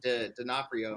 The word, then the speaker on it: D'Onofrio: Vincent D'Onofrio.